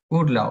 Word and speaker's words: Urlaub: Excepción, Birne, la B al final de la palabra se pronuncia como una P. Cuando termina la palabra, como una P. Pero no es como una P en realidad, es como una mezcla, ¿no? Sería como Urlaub.